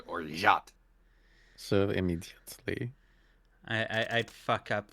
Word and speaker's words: orgeat: Apparently it's pronounced orgeat. Or Or not. rot. With like a Z. They said orgeat.